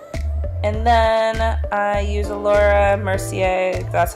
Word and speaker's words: Mercier: And then I use a Mercier, that's how you pronounce it, setting powder to bake a little bit underneath my eyes because I crease like nobody's business.